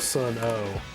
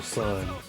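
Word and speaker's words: Sunn O))): Not to be confused with Sun O. Sun O is not the name. Don't pronounce the O. That is the actual sun burning brightly.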